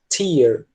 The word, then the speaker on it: tear: Eles geralmente tendem a diferir na pronúncia. Quando eu quero dizer essa palavra no sentido de lágrima, eles falam tear, com som de I, né?